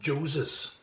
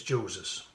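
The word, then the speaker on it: Joses: with many of you it's spelt exactly the same as moses only there's a j instead of an m at the beginning of the name so the chaps name is jose's if i read the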